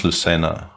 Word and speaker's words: Lucena: cordoba and spain yeah that definitely is lucena right that that has no other pronunciation possible uh so that was